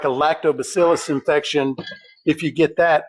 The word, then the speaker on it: lactobacillus: But the truth is like a lactobacillus infection if you get that it hasn't heard pardon me it hasn't heard anything yet.